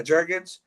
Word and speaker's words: Jurgens: Yeah, Jurgens.